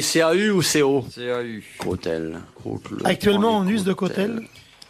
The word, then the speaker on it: cautèle: Ça s'écrit C-A-U ou C-O? C-A-U. Côtel.